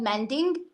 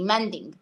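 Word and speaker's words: manding: the thing is this there's something called mending I hope my accent is not interfering with her the way I'm pronouncing it but I think it's right it's m a n d i n g mending okay so mending is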